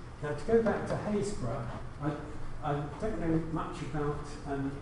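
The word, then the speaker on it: Happisburgh: Now, to go back to Haysborough, I don't know much about pronunciation in Norfolk, but we apparently call this Haysborough, but there's an awful lot of unnecessary letters in there.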